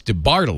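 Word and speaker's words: DeBartolo: the bottom line right because you put the emphasis on the second syllable it's de bartolo that's directed the first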